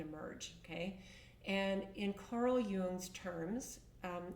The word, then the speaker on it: Jung: And in Carl Jung's terms, um, and it's Jung, Carl Yung was a amazing human being that left a ton of a ton of content for our soul's journey.